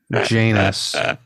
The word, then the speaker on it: Janus: Like, you're bringing out something in Janus, which rhymes with anus, that we haven't seen in a while.